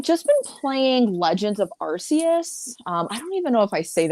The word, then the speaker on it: Arceus: of Arceus, Legend of Arceus, and I'm like, it's Legend of whatever Pokemon. I just say Arceus. I think that's the more common, I think, most commonly known acceptance in terms of pronunciation.